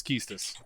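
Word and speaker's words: Quistis: hang on can I guess yeah is it kiestus it is and that's exactly how I pronounced it was kiestus yeah I think that's correct okay yep yeah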